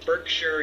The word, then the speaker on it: Berkshire: let me know that the towns that end in S-H-I-R-E over in England or in the UK are not Shire like I've been pronouncing it, that it's Sure. So Heather, thank you from Berkshire, UK.